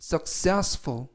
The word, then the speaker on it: successful: 뜻이 되겠습니다 이번 표현은 successful successful successful이라고 발음하시면 되겠고요 이때 강세는 가운데 있는